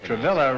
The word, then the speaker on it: Travilla: Martha mirror and travilah huh is that rhyme with a girl no I don't know Noel travilah rhymes Ian gorilla will pronounce what is